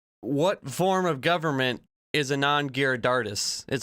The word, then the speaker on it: Anand Giridharadas: What form of government is Anand Giridharadas?